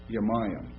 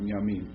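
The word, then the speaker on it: ימים: because now he called Yamayim. Now, or Yamim, I'm sorry, I'm pronouncing it wrong. Yamim.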